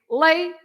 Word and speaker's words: leite: You have to say lay and then to, right? So you stress the one before the last.